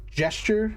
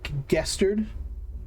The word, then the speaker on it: gesture: There's someone I listen to who does story reading, like audiobooks, I guess, and he pronounces gesture as gestured, and he does like a soft G, gesture instead of gesture.